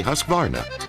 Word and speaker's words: Husqvarna: now how to say husqvarna you say husk like corn and varn like varnish without the ish and nah